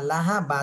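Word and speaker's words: لَهَبْ: সাকিন দিয়ে পড়তে হবে আর সাকিন দিলে বা উপরে যখন সাকিন চলে আসবে তখন কলকলা করতে হবে লাহাব লাহাব দ্রুত সায়াসানাতা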